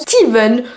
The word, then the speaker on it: Stephen: me reprendre en anglais il me semble que le Stephen se prononce Steven donc en réalité c'est